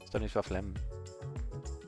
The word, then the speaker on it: Stanisław Lem: My favorite science fiction author is Stanisław Lem, actually pronounced. Stanisław Lem.